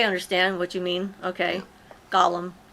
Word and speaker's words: Gollum: she was attacked my golem form Lord of the Rings. Oh, I understand what you mean. Okay. Gollum, not Golem. Although they're very similar. Spelled the same, pronounced a little bit different.